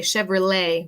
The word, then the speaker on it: Chevrolet: we said Chevrolet uh in English we say Chevrolet we don't pronounce the T I don't know why